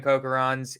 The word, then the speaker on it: Kocherhans: how do you say your last name Coker homes yeah hookerons that's great cokerons he is an amazing guy multi-family gangster one